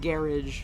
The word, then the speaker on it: garage: For example, vitamins is pronounced vitamins. Vitamins. Privacy is pronounced privacy, and Yep. garage is pronounced garage.